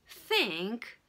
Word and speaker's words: think: Vous avez aussi la différence de prononciation entre le S et le TH. Think, ok, think, I think, ok, je pense.